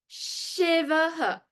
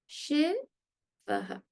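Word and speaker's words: शिवः: When I put the aha with the previous syllable, it should give you a hint that it is the visarga and not a letter H.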